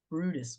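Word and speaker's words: Bryde's: this week um so we decided on the Brutus whale which for those of you who might have seen this spelled and have no idea how to say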